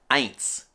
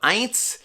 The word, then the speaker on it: eins: little pronunciation here so the word for number one or one is eins so eins you notice is spelled e-i-n-s and the e-i makes a long i sound as in english or like the word